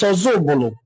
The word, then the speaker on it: Ozubulu: The Igbo in Council of Ozubulu explains that the name of their town is pronounced as Ozubulu from Oza Ubulu, and certainly not meaning another Ubulu, as often misinterpreted.